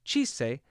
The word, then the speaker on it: cīese: However, the Old English cīese had an initial ch sound.